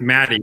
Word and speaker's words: Matty: The second T in my name is silent. It's just The Matt. Matt the He Elf. It's just Matty, not Matt T.